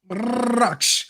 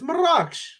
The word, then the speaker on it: مراكش: R's being rolled like that. That's how you say it. It's Marrakech. مراكش. That's how you say it. Yes, Marrakech. You don't say Marrakech.